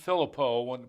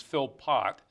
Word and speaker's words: Philpott: It would have been pronounced in French Philippot, but the English, they pronounce the T's Philpott, son of Philip, or Philipson.